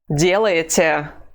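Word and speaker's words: делаете: terre we deal hm the stress mark is over the first vowel so we cannot say Daliah or delegator the only correct pronunciation of this form is d later let's say it again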